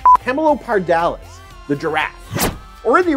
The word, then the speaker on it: Camelopardalis: Continuing upwards, and at this point almost directly above you, is one of the funnest constellations to try and pronounce. Camelopardalis. Camelopardalis. Camelopardalis.